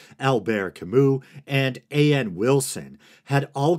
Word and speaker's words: Albert Camus: some people say Albert I'm choosing what's closer to the French pronunciations Albert Camus and Ann Wilson had